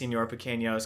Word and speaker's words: Señor Pequeños: and like he like asked the name, and I said, oh, it's pronounced Señor Pequeños because it's this nickname my Spanish teacher gave me when I was like 13, and it's stuck ever since then.